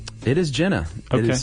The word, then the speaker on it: Gina: Uh we got something from uh Jenna Dalmas, and Jenna was on the coed trip go with Jerry. Is it Gina? It is Gina.